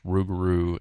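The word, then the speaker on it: rougarou: their uh their language, the French Cajun Ruguru. So, Lugaroo in French, Rugaroo in French Cajun.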